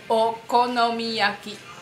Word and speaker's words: Okonomiyaki: Okonomiyaki.